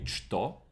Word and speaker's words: что: So I'm going to read this as a ch, because at this time it was always written like a ch. So this is going to be chto, not что.